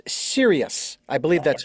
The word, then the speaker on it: Sirius: It's 38, and it's Sirius. I believe that's how it's pronounced.